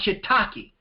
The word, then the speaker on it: shiitake: is another good mushroom shiitake I remember the first time I read this I said what is that cake because of the way it's spelled and like I said